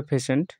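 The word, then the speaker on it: patient: এটার উচ্চারণটা ভালো করে জেনে নাও, এটার উচ্চারণ হবে পেশেন্ট, অর্থাৎ রোগী।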